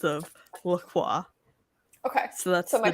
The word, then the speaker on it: LaCroix: do you say it lacroix is the actual pronunciation i don't know i don't drink them oh but it's very hot it's french and if if you said it in french it would be more along the lines of lacroix okay so